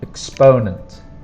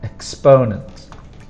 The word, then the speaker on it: exponent: little higher and then exponent is not difficult to spell but pronunciation the strong sound is the second sound exponent exponent tenths hundredths thousandths tenths